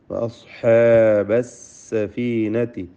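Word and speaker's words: وَأَصْحَابَ السَّفِينَةِ: വഅസ്ഹാബ സ്വാദിന് തഫ്ഖീം കൊടുക്കണം. വഅസ്ഹാബസ് സഫീനതി. സീന് സ്വാദ് ഇതൊക്കെ സഫീറിൻ്റെ അക്ഷരങ്ങളാണ്. സഫീർ എന്താണെന്ന് നമ്മൾ മനസ്സിലാക്കിയതാണ്. അസ് എന്ന് പറയുമ്പോൾ ആ ശബ്ദമാണ് സഫീർ എന്നതുകൊണ്ട് ഉദ്ദേശിക്കുന്നത്. അത് വ്യക്തമാവണം, അല്ലാതെ അക്ഷരത്തിൻ്റെ ഉച്ചാരണം ശരിയാവുകയില്ല. സ്വാദിന് തഫ്ഖീമുണ്ട് എന്ന വ്യത്യാസം മാത്രം.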